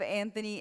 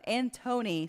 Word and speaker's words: Antony: happy birthday tomorrow then have you heard of Anthony and Cleopatra Antony sorry and Cleopatra well that's how you say my name okay country but plays